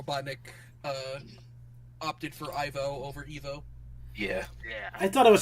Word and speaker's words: Ivo: In fact, it's because of this show that Robotnik's name in the movies is pronounced Ivo, because his name was supposed to be Evo.